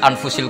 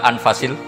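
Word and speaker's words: أنفس: Di sini ditulis anfusil kutub. Selalu saya baca anfasil kutub karena maknanya kitab terbaik. Kalau kitab terbaik bacanya bukan anfus tapi apa? Anfas.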